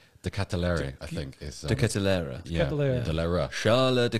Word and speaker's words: De Ketelaere: De Ketelaere.